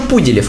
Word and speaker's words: Пуделев: Кеша Пуделев, ударение на У.